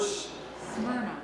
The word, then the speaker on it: Smyrna: Nicole, do you know how to pronounce that word? Smyrna.